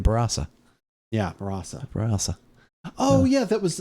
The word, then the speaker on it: Barossa: at work sometimes the how to say the word Brasa remember b-a-r-o-s-s-a and we were saying Barossa oh we got a lesson from somebody yeah that's right barasa yeah oh yeah that